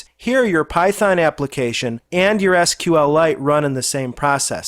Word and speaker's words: SQLite: And by the way, he does pronounce this product SQLite and not SQLite, as some folks pronounce it.